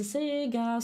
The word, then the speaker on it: Sega: because I'm used to the Italian pronunciation of CS because when we hear the introduction of that brand, it's Sega. So yes, Sega, it should be.